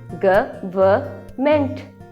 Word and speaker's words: government: The spelling of this word is GOVERNMENT. लोग usually इसको बोलते हैं गवर्नमेंट. The correct pronunciation of this word is government.